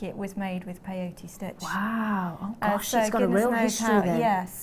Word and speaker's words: peyote: So we're going to go back to peyote stitch for a little bit now. How do you spell that?